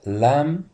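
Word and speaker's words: lamb: الصوره الثالثه لام وطبعا كلمه لام البي في الاخر لما جي ورا عندنا حرفين حرف الام وياتي وراه حرف البي الخفيفه اللي هي بي فور بوك البي لا تنطق فعشان كده بقول ل البي غير منطوقه او شبه مش منطوقه خالص وطبعا كلمه ل معناها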